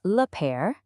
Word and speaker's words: père: For father, it's le père. See that little accent on the E? That's what gives it that eh sound.